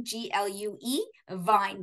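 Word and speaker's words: Glühwein: wine um you know just think of it as glue Vine glue g l u e Vine v i n e so glue Vine but it is spelled with a we i n but Vine that's how but it's really a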